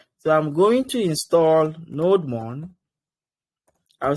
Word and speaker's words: nodemon: So on npmgs there is a package called nodemon nodemon some people call it node demon nodemon however you want to pronounce it node and then mon.